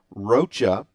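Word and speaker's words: Rocha: I got that right roacha instead of Roa so I miss pronounce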